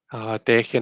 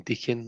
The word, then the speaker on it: Deccan: Deccan as in decade. I got used to saying deacon. I think deacon sounds nicer, but if Marion says that it's Deccan, then it's Deccan.